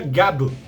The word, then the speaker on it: Gavv: Depois do sofrido Kamen Rider Gotchard, chegou finalmente o Kamen Rider das balinhas de goma, Kamen Rider Gav, que na verdade se pronuncia Gab.